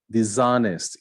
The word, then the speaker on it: dishonest: Dishonest, you don't speak the H.